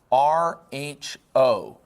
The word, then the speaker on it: rho: but I want to tell you how to pronounce it. It goes R H O, all right? And this letter is rho.